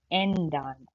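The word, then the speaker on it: ändern: लेकिन क्योंकि अब इसके ऊपर दो डॉट्स पड़े हुए हैं, यानी कि ये umlaut है, तो हम इसको बोलेंगे एंडान। एंडान जो है, यानी कि आप ए ई प्रोनाउंस करते हैं।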